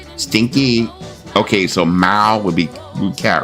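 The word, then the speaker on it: mèo: Mao. What? Mao.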